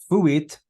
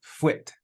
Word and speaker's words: fuit: Fuit, notice it's 2 syllables. It's not a diphthong. It's not fuit. It's fuit, 2 syllables.